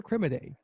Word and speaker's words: Akinrinmade: and one more time for us for correct pronunciation ID Victor criminais and so criminais so that we might be